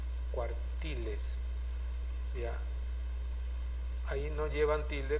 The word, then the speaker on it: cuartiles: Acá se dice cuartiles también, por eso no lleva tilde, ¿ya? Cuartiles. Si decía cuartiles, entonces tendría que tener tilde porque es la antepenúltima sílaba, ¿ya? Entonces, última, penúltima y antepenúltima. Cuando la mayor fuerza de voz está en la antepenúltima, siempre va a tener que llevar tilde, ¿ya?